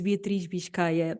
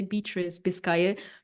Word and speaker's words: Beatriz Biscaia: So yeah, like literally, my name is Beatriz Biscaia. That's the Ooh. literally the Portuguese name, the Portuguese Oui. way of pronouncing it. But normally I say Beatriz Biscaia because it's a little bit easier to pronounce.